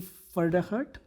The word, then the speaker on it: Pferdehirt: welcome our speaker, Pfedehirt. Did I say that right? That is. I always told people that you pronounce my last name, the P is silent, like in Pfizer.